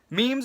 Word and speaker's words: meme: it and that's where the term meme actually comes from it rhymes with gene and it shows you